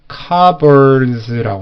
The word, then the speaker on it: cupboard: cupboard가 아니라 발음을 cupboards라고 하셔야 돼요.